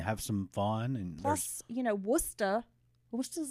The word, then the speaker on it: Worcester: Now it looks like Worcester, but it's Worcester. And you will be corrected if you mispronounce it when you are in the presence of massholes.